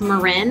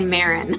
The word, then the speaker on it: Marin: with me oh and my last name is pronounced Marin that most people say Marin okay yeah only bay